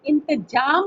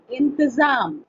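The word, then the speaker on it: इंतज़ाम: नुक्ता भी लगा हुआ है, नुक्ता ज के नीचे। इंतजाम नहीं पढ़ेंगे, इन पढ़ेंगे, ठीक है? हुए वर्ण का उच्चारण अलग हो जाता है, उसमें अंदर से हवा ज्यादा बाहर। इंतजाम, कोशिश कीजिए, इंतजाम।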